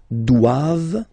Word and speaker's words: doivent: And then the last one, ils doivent. So same thing, classic ending for the plural form, ent here. Okay, but then you don't pronounce it.